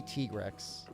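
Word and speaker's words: Tigrex: say tigrix for us i know it's supposed to be t-rex but just because i know that doesn't mean i'm actually gonna pronounce it that way now we're just gonna we're gonna get the cactus flowers i don't it's not t-grex i mean depending on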